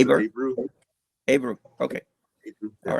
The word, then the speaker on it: Abreu: So I assumed it was Abro. Is that how you read it, or Well, I how was do you pronounced read it Abru. I was pronounced Aber? it Abru.